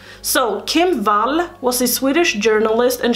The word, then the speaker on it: Wall: 17th and Kim Valley it's spelled English wall but her pronunciation is Val so Kim Val was the Swedish journalist